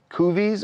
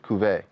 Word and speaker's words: Cuvée: How do you pronounce the restaurant? Is it Cuvées or is it Cuvée?